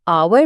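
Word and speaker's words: hour: Loves आवर में एच लिखा तो है लेकिन बोला नहीं जाता। वो साइलेंट है तो इसकी आवाज ओ से शुरू होती है जो एक वोवेल साउंड है। इसलिए हम ए आवर नहीं बल्कि एन आवर कहेंगे।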